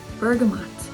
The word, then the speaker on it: bergamot: is one to try bergamot or bergamo depending on how you pronounce it this one i love